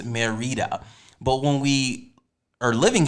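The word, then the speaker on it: Mérida: funny thing is okay so we came in and we were like merida and then somebody was like oh it's marita but when we are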